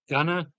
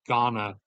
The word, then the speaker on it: Ghana: So a lot of people, we usually assume it's Ghana, but from all the Ghanaian people, as they're called, pronouncing it, it's apparently they do not put that heavy-handed emphasis on it. It's a mix of gun and gan, as in like the an from can.